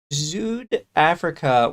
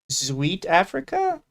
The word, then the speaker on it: Zuid-Afrika: Zuid-Afrika was the original Dutch name of South African. Swede-Afrika is Afrikaans. In both, D is pronounced as a T.